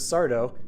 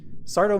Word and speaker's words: Sardo: a moment sooner does sardo no Mista Accent on the doe appear out of two